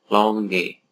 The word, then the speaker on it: langue: adalah lamwe dan langage langue itu bacanya longge dan langkah gitu bacanya